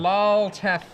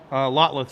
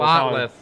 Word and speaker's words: Lotleth: Lolteth. How do you say that? Lolteth? Lotleth Troll. Lotleth.